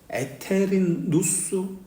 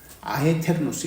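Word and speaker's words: aeternus: 누스 n 에테르누스 하는데 교회에서는 이것을 어 교회 용어로 쓸 때는 하나님에게 쓸 때는 에테르누스 그렇게 합니다 아에 테르누스 일반적으로 쓸 때는 아에 테르누스 그리고 시작이 있는 영혼도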